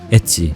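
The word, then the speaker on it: エッチ: and elegant track and the use of letter H is essentially a slang for saxs in Japan as it is pronounced as Etsy which could mean obscene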